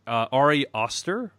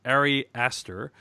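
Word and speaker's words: Ari Aster: trailer for hereditary of the directorial debut of arias sir sorry Esther how do you print digital pronounce it alright yes question let me do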